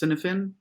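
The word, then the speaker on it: Cynefin: What I quite liked, and that's sort of nearly like a thing in my own very familiar corner, is I think it's pronounced Cinefin, this Welsh name terminology that describes a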